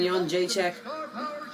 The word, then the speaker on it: Jedrzejczyk: Joanna champion Jedrzejczyk. And that pronunciation, that's how you know I'm a fan, because it's A1.